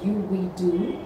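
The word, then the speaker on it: UV Doux: If you want to avoid a white cast, then what pops in my mind right now is something called UV-Do, which is spelled as UVDOUX.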